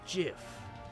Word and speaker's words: GIF: It's pronounced GIF. Huh? .GIF, like the peanut butter.